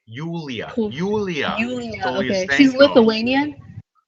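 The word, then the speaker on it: Julija: That's how you pronounce the J. Yulia.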